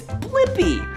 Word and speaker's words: Blippi: Yeah, it's Blippi. Let's spell it together.